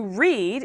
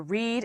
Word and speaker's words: read: sound the same so to read is to comprehend writing it rhymes with need red is the past